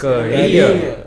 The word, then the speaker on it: career: mountaineer, All of these words ending in ERE or EER take stress on the final syllable.